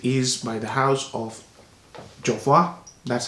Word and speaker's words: Jovoy: It is by the house of Jovoy. That's how it's pronounced.